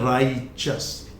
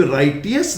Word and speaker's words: righteous: Then एक ये शब्द है जो राइट से बनता है, इसका प्रोनाउंसिएशन है राइचस, राइचस। इसको कभी भी राइटियस नहीं बोलेंगे, राइचस।